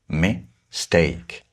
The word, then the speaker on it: mistake: So it's steak, not me, that is stressed. We usually say mistake, mistake, did-da.